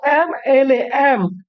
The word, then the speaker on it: MLA: अब बच्चों MLA, एम के लिए हम लोग उच्चारण क्या करते हैं, AM, एम है ना, MLA। एम यानी कि वोवेल का उच्चारण हो रहा है, तो वोवेल